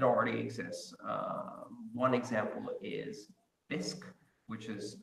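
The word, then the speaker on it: Bisq: in fact it already exists one example is disk which is spelled B is Q and this is a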